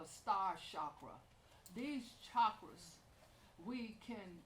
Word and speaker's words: chakra: And in the Eastern world, and this is where the chakra ideas originated, the correct name is chakra. It's spelled chakra, but here we say chakra because of our language.